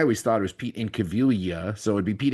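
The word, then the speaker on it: Incaviglia: I at least when I remember his name being pronounced the G was silent. So I always thought it was Pete in Cavilia.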